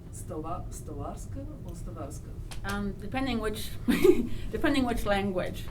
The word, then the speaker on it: Stawarska: How is it pronounced? Stawarska or Stawarska?